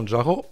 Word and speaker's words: Manjaro: Manjaro Linux, ou tout simplement Manjaro, prononcé comme dans Kilimanjaro, est une distribution basée sur Arch Linux.